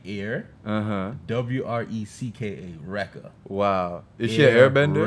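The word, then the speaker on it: Airwrecka: Now, obviously, it's supposed to be Erica, but her parents decided to name it, to spell it A-I-R, like air. Uh-huh. W-R-E-C-K-A, Rekka.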